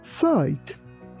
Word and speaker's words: cite: Be careful that letter C doesn't sound like C. It sounds like S. That's why we say site.